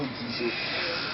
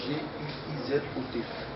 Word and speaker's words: Guizot: C'est Guizo et ça s'écrit G-U-I-Z-O-T. C'est pas comme les autres voyous, on écrit G-U-S-Y-S-O. Voilà. C'est Guizot. Alors, Guizot, es-tu marié?